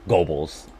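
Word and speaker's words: Goebbels: here botching names basically it's pronounced gobbles gotcha uh number 11.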